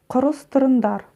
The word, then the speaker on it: құрастырыңдар: Давай напомню, как читается буква «н» с хвостиком. Произнося обычную русскую букву «н», мы кончиком языка тянемся к верхнему небу, но не дотягиваясь, ее произносим. И у нас получается звук «н». И в итоге у нас «құрастырыңдар».